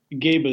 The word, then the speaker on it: Gebel: Gebel, yeah, like Clark Gable, can pronounce it the same way.